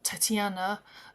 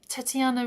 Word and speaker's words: Tetiana: to present this song Tatiana um to you. Um, Tetiana is the way you say it in in Ukrainian. It's with an E.